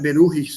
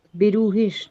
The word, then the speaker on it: beruhigt: Also the complete sentence would be, alle Schüler, die sich gut vorbereiten, können beruhigt sein. Got So it? here T is silent. Beruhish, not ticked. Beruhigt.